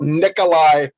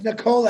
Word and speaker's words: Nikola: got it you're caught you're talking about nikolai tesla no it's nicola actually if you pronounce it correctly okay i beg the